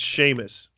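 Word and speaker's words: Seamus: first time yeah definitely definitely was see it's sheamus watch okay so he gets paired with sheamus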